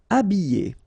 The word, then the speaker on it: habiller: Habiller. Okay, remember E, double L, and then a vowel, Y. Habiller. H is not pronounced.